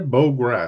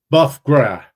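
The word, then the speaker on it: bœuf gras: check this pronunciation here B Gra I think or bogra let's see here it's buff gra buff gr just like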